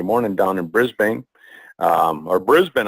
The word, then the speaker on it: Brisbane: down in Brisbane, or Brisbane. I've been told I say it wrong. I always say Brisbane, but it's Brisbane.